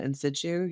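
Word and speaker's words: in situ: zero DCIS uh ductal carcinoma in sichu. you can correct me if I'm pronouncing that right. That's exactly right.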